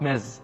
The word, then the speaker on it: Ms: Ms, this one is pronounced Ms with Z sound. And we use it with a woman when we don't know if she's single or married. Ms.